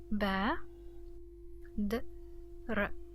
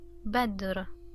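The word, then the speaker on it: بدر: Ba, d, r, badr, badr, badr.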